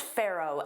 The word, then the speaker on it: pharaoh: So, that ph is pronounced as an f.